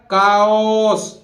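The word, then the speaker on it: chaos: देखि चास नहीं हैय सी के बाद एच आ रहा है तो एच विल बी साइलेंट तो कैसे बोलेगा काओस कास बोलते हैं कंप्लीट डिसऑर्डर एंड कन्फ्यूजन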